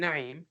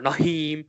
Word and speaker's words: Naeem: As you can tell, I pronounce my name Naeem. Noon, Ain, Ya, Mim, in Arabic alphabets. And folks, they pronounce it Naim or Naim or Naim or Naim or Nahim.